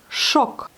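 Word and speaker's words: шок: Choc. Vous voyez, là, il n'y a pas du tout d'accent. Le O se lit comme O. Le O qui est écrit se prononce bien comme le O.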